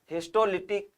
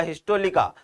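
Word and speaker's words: histolytica: हिस्टोलिटिक, हिस्टोलिटिका या हिस्टोलिका, दोनों ही pronunciation सही है, कोई इश्यू नहीं है।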